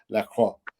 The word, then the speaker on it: Lacroix: I should be able to pronounce his name properly, but Lacroix. The X is silent. I don't know why they use the X.